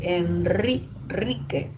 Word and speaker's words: Enrique: En Enrique, ante la N, se escribe también solo una vibrante, pero el sonido es múltiple. Enrique, Enrique. Es múltiple, ¿se dan cuenta?